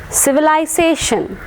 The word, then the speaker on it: civilization: Civilization. Civilization. Civilization. Civilization. And words ending in ion, stress will be marked on the penultimate syllable.